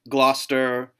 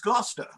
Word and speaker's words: Gloucester: lot of those like Gloucester, Worcester. Those words. The one that I found really fascinating, Leicester, does not look like Leicester. Yeah. Neither does Gloucester. Right. It looks like Gloucester, which I'm like, nope.